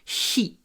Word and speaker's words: sheet: Так что, когда мы говорим лист бумаги, надо произносить длинный щ и супер мягкий sheet.